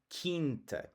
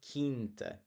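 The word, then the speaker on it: quinta: the w sound or in kint same thing it's the word for a farm kint so it's the q is largely silent and it's going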